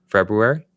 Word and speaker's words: February: February. He says the R. He believes in the R, Travis.